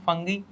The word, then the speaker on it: fungi: Which is about German scientist discover plastic eating फंगी for waste reduction. ठीक है, अब देखो, फंगस उसका प्लूरल होता है फंगाई। ठीक है, इसे फंगी बोलो फंगाई बोलो, वो प्रोनाउंसिएशन मैटर नहीं करता, आपके लिए